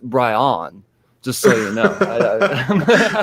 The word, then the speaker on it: Brian: conversation so um uh yeah my name's actually pronounced bryon just so you know bryon yeah yeah i've been saying it wrong this